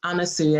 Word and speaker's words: Anasuya: So it's Anasuya and it rhymes with hallelujah.